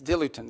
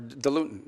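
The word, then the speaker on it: diluent: As in fact, one of the things they need is dilutin, or dilutin, depending how you want to pronounce it.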